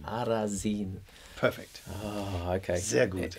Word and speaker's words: Arasin: Arasin. Arasin.